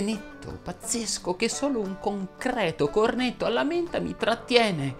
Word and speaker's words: concreto: Fanno eccezione le parole concreto, ceto, feto, veto, cateto, secreto, che è la coniugazione di secernere, lieto, divieto, veto, prete, siete, in cui la E va pronunciata aperta.